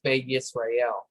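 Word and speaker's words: בְּיִשְׂרָאֵל: But yeah, the way you would say it is Be Yisrael.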